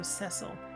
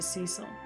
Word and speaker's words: Cecil: When his name is spoken in that version, they pronounce the first syllable of his name with a short E, so Cecil, as opposed to Cecil. I mean, I think that is the common pronunciation.